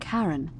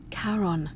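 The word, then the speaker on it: Charon: is a little off the name you heard wasn't karen it was c-h-a-r-o-n as in caron the ferryman of the dead karon who in exchange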